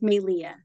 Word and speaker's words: Melia: It's pronounced May, like the month. Leah. It's a Hawaiian name, so the E is pronounced like an A. That's where the accent is. So it's Melia.